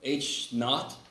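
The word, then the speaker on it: H₀: if you weren't here H not is how you say this H KN it's it's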